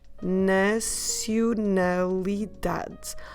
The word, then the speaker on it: nacionalidade: I know, quite a long one, so let's break it in syllables for you. Na, si, u, na, li, da, de. Okay, should we go again, syllable by syllable? Na, si, u, na, li, da, de. 7 syllables.